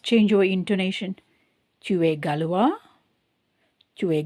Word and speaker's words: gallois: Tu es gallois? Tu es galloise? So in the first one, we don't pronounce the S. In the second one, we are pronouncing the S.